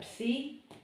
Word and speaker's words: psi: It's a psi, like in Pepsi.